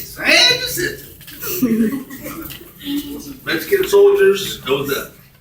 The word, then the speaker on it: San Jacinto: San Jacinto.